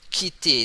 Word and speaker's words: quitter: Normally, when the letter Q, okay, the pronunciation is like K sound, and then we have to pronounce it hard.